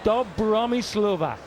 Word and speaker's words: Dobromyslova: level one a markdown dub Bahrami Slovak rhymes with bossa nova so we're going around